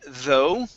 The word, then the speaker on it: though: we have the word though the gh here is silent so instead of saying it's